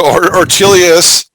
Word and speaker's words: Ortelius: you can see my artillious for us so artelias is spelled o r t e l s it's